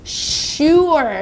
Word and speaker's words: sure: 그 다음에 sure 라는 단어 좀 보겠습니다. 쉬. 사운드가 또 나오죠. 긴 S. 쉬. 시작. 쉬. 한 번 더. 쉬. sure 이렇게 발음이 되네요.